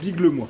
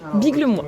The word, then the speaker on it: Biglemoi: Lille, c'est bien comme ça que ça se prononce. Biglemois. Biglemois.